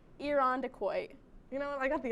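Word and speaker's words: Irondequoit: much pressure oh okay next one is iron dick quo oh my god closer it's iron decoy you know i got the ending kind of right you kind of you're 50 50.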